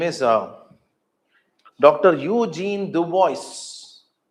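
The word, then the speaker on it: Eugène Dubois: Eugene Dubois. How they pronounce is Dubois, they pronounce.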